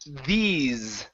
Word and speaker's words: these: Next up is the word these. Okay, with a Z sound there instead of this little guys.